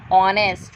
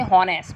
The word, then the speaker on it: honest: So H is consonant, but the sound is coming honest. We are not say honest. We say honest. H is silent.